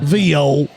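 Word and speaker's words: viol: Vial VO. VO. That's the French pronunciation.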